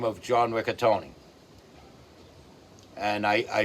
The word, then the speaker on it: Ricottone: the name of John Ricatony. And I I f I found out recently that yes, you do pronounce the E at the end of his name.